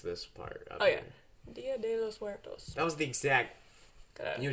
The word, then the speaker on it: Dia de los Muertos: Souls Day, which is Dia de los Muertos. How is my pronunciation of that? Horrible. Really? Yep. How do you say Dia de los Muertos?